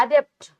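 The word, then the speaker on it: adept: और एक वर्ड होता है बेटा एडेप्ट। थोड़ा इनका प्रोनाउंसिएशन चेंज हो गया, देखो। अडॉप्ट माने गोद ले लेना, अडेप्ट माने चेंज होना, बदल जाना, और एडेप्ट मतलब क्या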